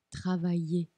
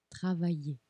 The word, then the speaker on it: travailler: Travailler. Travailler.